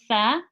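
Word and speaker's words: ث: So we've got tha, dhal, and dha. So 3 letters now where you would pronounce by sticking your tongue out.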